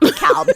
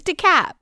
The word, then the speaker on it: DeKalb: That hard L kills me every time. Where's DeKalb? It's not DeKalb. It's not DeKalb. It's not DeKalb. None of those things. It's DeKalb.